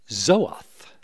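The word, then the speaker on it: זאת: Pronounced Zoath in Hebrew, the first time the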